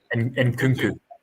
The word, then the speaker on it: Nkunku: You look at the numbers in Cuckoo, and how do you pronounce it? In Nkunku.